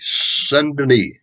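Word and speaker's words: Saint-Denis: the name of louis sunderly now it's pronounced and the it looks on paper like saint dennis okay first name louis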